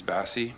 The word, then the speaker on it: Bassey: But my question for Ms. Bassey, is that a correct pronunciation? Yeah, you got it right.